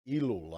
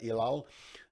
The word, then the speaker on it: Ellul: But they say that they draw from the theoretical approaches of Jacques Ellul, I think is how you say it, Ellul, a French philosopher, sociologist,